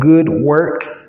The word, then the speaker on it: Good Work: It's called Good Work. It's spelled good and then work in shorthand, WRK. So it's good, WRK. All one word, no spaces.